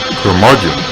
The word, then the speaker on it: Curmudgeon: Curmudgeon rhymes with bludgeon.